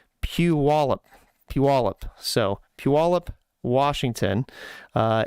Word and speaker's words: Puyallup: pronounce this as a Washington state and it is spelled p-u-y-a-l-l-u-p Washington and I had asked because to me I guess I would pronounce that boil up and I was told is they're still trying